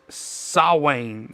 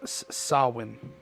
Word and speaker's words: Samhain: In modern times, Samhain which is also a Gaelic word pronounced Samhain. Samhain, sorry, that's what it's pronounced Samhain.